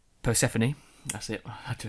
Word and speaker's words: Persephone: up to episode called past the phone which is how I before you pronounced Persephone that's it I have